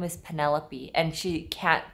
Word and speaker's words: Penelope: her real name is Penelope and she can't pronounce it her Korean accent will not allow her to pronounce it so she was panop it was Penny's 100th